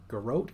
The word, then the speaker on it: Garrote: Garrote for Assassination, Blind for Outlaw, and Sap for Subtlety. Garrote? Am I pronouncing that right?